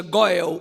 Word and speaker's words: Goel: A palavra Redentor em hebraico se pronuncia Goel ou Goi. Esta palavra Goel, ela é usada, irmãos,